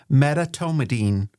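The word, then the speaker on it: medetomidine: And then something that I had to practice, Elise, to pronounce, metatomidine. Can you believe that, audience?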